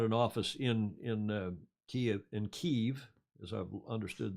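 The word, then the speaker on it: Kyiv: they've all had an office in in uh kia in kiev as i've understood the pronunciation in ukrainian as opposed to russian kiev we used to say but it's ukrainian company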